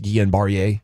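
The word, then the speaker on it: Guillain-Barré: from 14 through about 16 until Travis Frederick Gan barier syndrome got a little bat on him but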